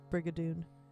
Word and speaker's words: Brigadoon: Liam said that it's obligatory for you to roll your R's in Brigadoon when you say Brigadoon.